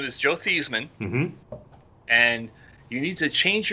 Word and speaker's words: Theismann: guess and he says dad how do we pronounce our name he goes oh it's thyseman after the money's cleared